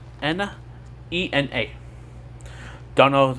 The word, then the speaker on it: Ena: Enna, I think it's how you say her name. Enna.